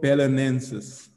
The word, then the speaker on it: Belenenses: embarrass ourselves around the portuguese people it's called pelenensis yes what's your position what is the coach